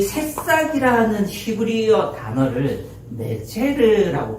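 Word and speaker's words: נֵצֶר: 이 새싹이라는 히브리어 단어를 네체르라고 발음하거든요. 뭐라고 발음한다고요? 예, 네체르, 네자르, 그러니까 약간 혀를 굴리시면 잘하는 것처럼 들려요.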